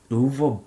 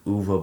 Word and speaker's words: Uwe: Let me just start by saying, his name is kind of weird. Uwe Boll, when it's spelled U-W-E. Shouldn't it be Uwe Boll? Because there's no V, but if you don't